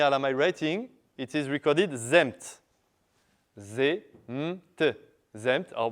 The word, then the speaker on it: zemt: But then we saw that in linear Elamite writing, it is recorded zemt. Z-m-t. Zemt, or very probably the pronunciation was tzemt, zemt, or themt. Well, more or less, zemt.